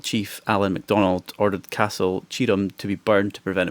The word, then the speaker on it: Tioram: It's spelled Castle Tioram, but it's pronounced Castle Tioram.